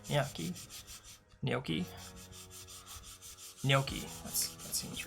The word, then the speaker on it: gnocchi: Frozen nachi. Sounds good. I haven't really had much nachi. Ganachi? Ganochi. How do you say that? Am I saying that right? Nachi? Big plans to make fancy breakfast. Gnocchi.